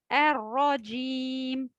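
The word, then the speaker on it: الرَّجِيم: Ici avec une ra mushaddada, donc avec shadda. C'est l'équivalent de deux ra, la première avec un soukoun et la deuxième fatha, ra. Arra, arra, arra. Donc la première avec un soukoun, la seconde avec une fatha.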